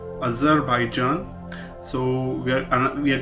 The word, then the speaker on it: Azerbaijan: this time we are doing the country called azerbaijan i am not pronouncing it wrong might be you sound it wrong it's a z e r b a i j a n other by john if you in as an